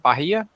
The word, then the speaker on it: Bahia: It'll be the week of September 11th through the 15th, so it's a Monday through Friday, at the Bahia, is how you pronounce it, Bahia Resort Hotel in San Diego, California.